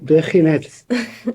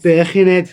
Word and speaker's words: Birkenhead: So it's in Birkenhead, but we use like Birkenhead. You said it wrong. Say it stereotypically. What, Birkenhead? Birkenhead. That's better.